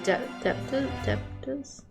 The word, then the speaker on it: debtors: Silent B in debtors? I don't know. Debtors? Debtors. Okay. Trying to think of how I pronounce debt. Yeah, debtors. Okay, that makes sense then.